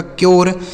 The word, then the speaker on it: cure: सी यू आर ई, सी से क हो गया, यू का उच्चारण यू हो गया, आर ई से र, यह लिखा गया आपका क्योर।